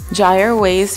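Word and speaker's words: Kjaer Weis: how to pronounce it gy ways foundation and my color is transparent I'm assuming the K is silent but please correct me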